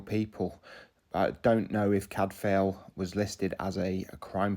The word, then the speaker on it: Cadfael: some of these include cadfel cuz cadfel is a Welsh name and it would be pronounced CAD Vil and it just shows